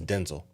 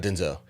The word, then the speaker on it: Denzel: in an interview that the correct pronunciation of his first name is Denzel really yeah not Denzel that's the country way I guess yeah Denzel